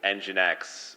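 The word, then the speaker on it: nginx: people pronouncing words and I actually tossed in engine X which is is how I pronounce it and I was actually curious if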